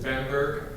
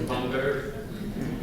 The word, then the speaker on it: Bamberg: And I was born in Germany in 1958 in a beautiful town in Germany called Bamberg, to use a proper German pronunciation. Americans use it Bamberg, but it's Bamberg.